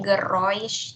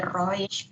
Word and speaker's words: Geräusch: Cara bacanya di Geräusch ya. Kenapa kok jadi Roish? Karena ini kan A umlaut dibacanya E. E ketemu U jadinya Oi.